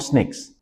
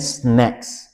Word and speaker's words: snacks: have another three more snakes." So, I understood that she meant snacks. And I noticed this very commonly that a lot of people make this mistake between snacks and snake.